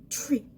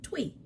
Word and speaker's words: Twi: Also, the Ashanti people, their original language was called Twi. Twi. You got that? Twi. Not Twi. Tree. Tree. It's quite difficult to pronounce, but practice brings perfect. Tree, not twee.